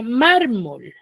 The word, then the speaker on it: mármol: ya con la regla Ahora yo tengo la palabra mármol Cuántas sílabas tiene dos dos tiene tiene dos sílabas cierto ahora dónde tiene la mayor fuerza de voz mar en la última Mar Mar cierto es en la penúltima sílaba Entonces si es en